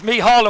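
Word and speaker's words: Mícheál: Well, I was just going to call him Mickey Glynn, but it's Mihal, of course.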